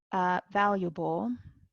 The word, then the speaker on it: valuable: Valuable, this A is not pronounced, sorry.